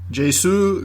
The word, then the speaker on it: Jsu: J Sue Garcia played Ron Lane. Sorry, Sue or J Sue. Uh, it's JSU Garcia.